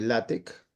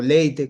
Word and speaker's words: LaTeX: Ya Moisés nos contará de qué trata y luego hablar un poco de latec, bueno, o leite como se quiera pronunciar. Bueno, usualmente se conoce como látec o látex que algunos pronuncian.